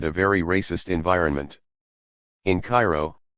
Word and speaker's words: Cairo: so I anticipated a very racist environment in Cairo pronounced Koo Illinois 50 Mi south of Carbondale White